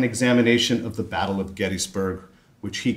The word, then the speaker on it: Gettysburg: Luce Professor of the Civil War Era and Director of Civil War Era Studies at Gettysburg College. Yes, that's how it's pronounced, Gettysburg.